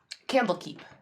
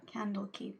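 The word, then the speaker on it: Candlekeep: say there they live Campbell keep candle keep okay the one that sounds like water deep so always say it wrong whoopsy okay Campbell Cape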